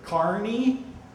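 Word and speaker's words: Kearny: We hear Kearney, we hear Carney, we hear Kearney. Kearney's sort of the middle road, and that's the one I usually take.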